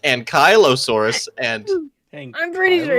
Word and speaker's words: ankylosaurus: angelosaurus okay first of all um Lady it's pronounced ankylosaurus and I'm pretty sure it's angelosaurus you need to get your no it's ankylosaurus right right right right right right actually I